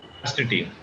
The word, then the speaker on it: astatine: ये करो 6.5 इसमें पर क्या 6 चैप्टर चल रहे 8.1 सर ये एस्टेलिन का प्रोनाउंसिएशन क्या है? एस्टेटीन।